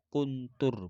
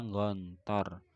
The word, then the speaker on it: Gontor: ma'hadi al-asri, di pondok modern kuntur bacanya gontor, wa darastu dan aku